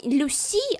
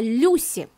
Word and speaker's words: Люси: И причем не Люси, а Люси. Да, именно так. Ударение на «ю».